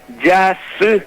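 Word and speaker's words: jasy: Y bueno, y así, por ejemplo, no es Yasí, no es Y-A-S-I, sino que es Yasí, es J-A-S-Y.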